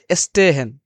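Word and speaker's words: stehen: হচ্ছে খেলাধুলা করা এবং যখন এস প্লুস টে থাকবে তখন কিন্তু তালবস্য স ত এর মত উচ্চারণ হবে যেমন স্টে হেন স্টে হেন যেমন স্টেট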